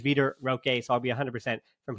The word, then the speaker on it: Vitor Roque: at least confirmed that the pronunciation while my Portuguese Is Not Great is veter Roque so I'll be 100